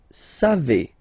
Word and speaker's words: savez: Then vous savez. Classic ending for vous, EZ, but then phonetically it's et.